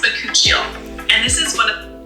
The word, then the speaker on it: bakuchiol: Vacuole. It's pronounced bakuchiol.